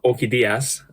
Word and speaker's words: Orquídeas: But Orquídeas is how I know that's pronounced. Entirely Spanish.